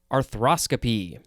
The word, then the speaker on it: arthroscopy: Now we have arthroscopy, but I think it is more properly pronounced arthroscopy.